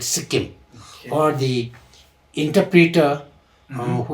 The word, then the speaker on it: Sikkim: the uh mhm is called name of Suhim. Like Actual name is the Suhim. Mhm. But Suhim when the British British they started writing book Mhm. So they could not get the uh proper pronunciation. Okay. So instead of writing as a Suhim they wrote it Sikkim.